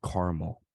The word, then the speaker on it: caramel: Is it caramel or caramel? It's caramel. There's 2 A's. Pronounce both of them.